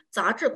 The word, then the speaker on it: 杂志: 杂志라고 해주시면 돼요. 근데 요게 발음할 때 자 같은 경우는 건설음이 없지만 智의 건설음이 있어서 또 요게 많이 실수하는 그 부분 중 하나시거든요. 나는 杂志 건설음이 너무 잘 안